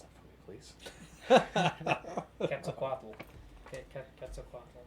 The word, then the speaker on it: Quetzalcoatl: How do you feel about the pronounce that for me, please? Quetzalcoatl.